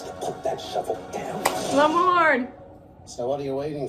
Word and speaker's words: Lamorne: Lamorne.